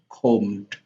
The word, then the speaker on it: comb: For example, you have prayed, prayed, robbed, robbed, comb, combed, plan, planned, mail, mailed, arrived, arrived, maze, mazed. So these are comb. Remember here we do not, the b sound is silent, it's not read.